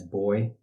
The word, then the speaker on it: BOI: beneficial owner information or Boi sometimes you'll hear that pronounced as boy so who's affected by